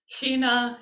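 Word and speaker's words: ἵνα: different fonts as well this one has that rough reading so it starts with a sound or just an h sound in order that this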